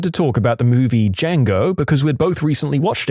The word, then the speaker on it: Django: I looked at her and said, the D is silent.